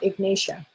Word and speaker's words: Ignatia: Ignatia is a great one for, that's the right, am I saying it right? Yeah, Ignatia is great for grief if you are in deep grief.